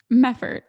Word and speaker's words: Meffert: Now, am I going to pronounce this right? Meffert. Is that right, Francesca? Meffert.